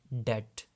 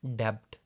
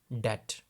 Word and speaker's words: debt: You'll pronounce that word as debt. B is silent, not debt. The accurate pronunciation is debt.